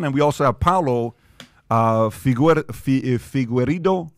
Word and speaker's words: Figueiredo: And we also have Paulo Figueiredo. It's hard. It's Figueiredo.